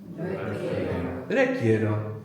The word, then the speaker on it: requiero: So RE is pronounced re in Spanish, so how might you say I require? Quiero is I want, I require? Requiero.